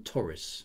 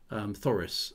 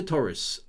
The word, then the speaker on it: Thoris: I'm assuming it's a soft TH rather than Taurus or Taurus. Thoris.